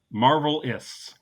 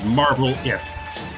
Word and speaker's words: Marvelists: Yeah, Marvelists. Like scientists.